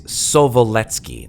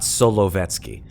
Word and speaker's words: Sovoletsky: It is Sovoletsky Island, not Solovetsky.